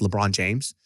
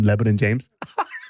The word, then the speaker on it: LeBron James: This guy used to call, he couldn't pronounce LeBron James. So he would pronounce him Lebanon James. Lebanese James.